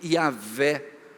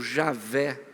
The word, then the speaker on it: Yahvé: estudiosos hoje afirmam que a probabilidade maior é que a pronúncia original fosse Yahvé, ou Javé, Yahvé.